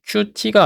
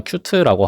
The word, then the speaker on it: Qt: 자, 큐트를 이용하면 아, 그리고이 큐트는 발음이 qt가 아니라 큐트라고 하더라고요. 여기도 보면은 그 발음은 귀엽다는 형용사의 큐2와 같다고 합니다. 왜 그런지 모르겠는데 그냥 그렇게 읽어야 한대요.